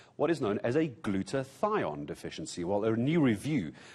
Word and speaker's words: glutathione: So what is glutathione and how do we try and keep on top of it?